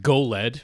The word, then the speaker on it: JOLED: have to pronounce It Go lead because you know GIF and GIF this is spelled with a J but got to pronounce it with a hard G sound I think I mean